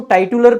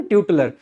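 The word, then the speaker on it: titular: तो टाइटल जो ट्यूटलर है, वैसे इसको टाइटुलर पढ़ सकते हैं आप चाहें तो, लेकिन एक्चुअली में इसका सही प्रोनाउंसिएशन है ट्यूटलर।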